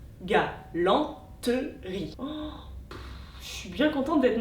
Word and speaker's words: galanterie: Et dans galanterie, on a 3 syllabes phonétiques, galanterie, mais on a 4 syllabes graphiques, galanterie.